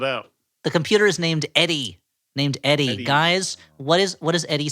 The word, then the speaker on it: EDI: The computer is named Eddie. Eddie. Guys, what does Eddie stand for? It's spelled EDI.